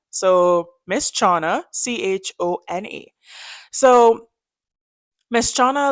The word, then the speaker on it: Chona: Forgive me if I'm pronouncing her name wrong, but I did Google it. It said Chona. So Miss Chona, Chona.